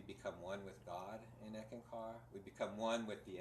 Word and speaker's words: Eckankar: It doesn't really matter, but we don't really see that we become one with God in Eckankar.